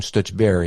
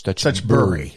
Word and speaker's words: Stutchbury: It's Burry. Not Barry, Burry.